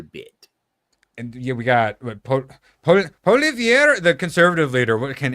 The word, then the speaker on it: Poilievre: And yeah, we got Poilievre, the conservative leader. What can any of you guys pronounce his name?